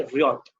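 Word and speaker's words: ryot: हाँ, इसको रॉथ बोलते हैं। रॉथ, हल्का सा वाई का साइलेंट, हल्का सा वाई का प्रोनाउंसिएशन आना चाहिए इसमें, वाई। ठीक है, रियोट।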